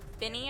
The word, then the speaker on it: BENEE: Her name's Binnie. I think that's how it's pronounced, but it's spelled like Benee.